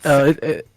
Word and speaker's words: Zik: Tisik. Is that how you pronounce it? Or is it Zik? It's like Z-I-K. Tick. Zik.